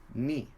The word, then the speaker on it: 日: And in this case, we pronounce this in hiragana, ni. In English, you can write that as ni.